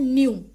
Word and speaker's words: nu: Next is frequency, और frequency को represent करते हैं हम इस सिंबल से, और इसको बोला जाता है न्यू।